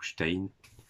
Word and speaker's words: Stein: guitare et vocals, et Chris Stein, ou Stein, je prononce à l'allemande, guitare, voilà, membre du groupe.